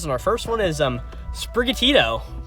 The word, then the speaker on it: Sprigatito: Of course, these are your starters, and our first one is Sprigatito. Sprigatito? I think that's how it's supposed to be pronounced.